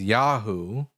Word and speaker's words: Yahu: So sometimes God's name is pronounced as Yahu.